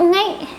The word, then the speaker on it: nghếch: which is ngốc and nghếch. nghếch is combined of ngh. It's also pronounced ngờ.